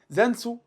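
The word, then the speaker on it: xanthos: خلي بالك ان هي زانس ولكن اولها اكس.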